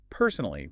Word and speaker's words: personally: When you say personally, put a little more stress on that first syllable. Personally, it sounds a bit more confident.